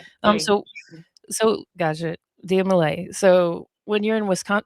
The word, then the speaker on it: Dia Malai: So, it's Dia Malai. Yes. Malai like Malaysia.